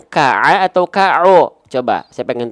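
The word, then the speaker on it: ك: Ka'a bukan ka'o gitu. Maka dia adalah huruf yang tipis ya.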